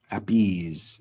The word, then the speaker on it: Appice: Vinny Appice. Appice is how it's pronounced.